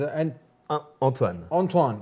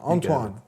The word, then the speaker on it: Antoine: Back here on The Deen Show with Anthony, and proper pronunciation or proper way to say this name is Antoine. Antoine.